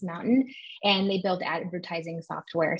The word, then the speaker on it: MNTN: at a company called mountain it's spelled out mntn but pronounced mountain and they built advertising